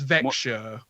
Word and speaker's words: Växjö: So yeah, because the pronunciation that we've always had for that is Växjö, Yeah, but it's Växjö.